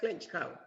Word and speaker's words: Clinchco: It's pronounced Clinchco.